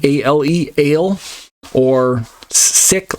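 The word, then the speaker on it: אֵל: gibor or El gior if you want to pronounce the um markings under that a little bit more accurately L is how most people say it commonly as in Elohim El gior but truly ale like the drink a l e ale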